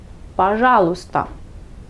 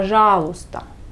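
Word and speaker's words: пожалуйста: polis vous pouvez ajouter le mot baja l'ostar par janot star c'est s'il vous plaît pas joe starr si on ne prononce pas à la lettre il ya bajos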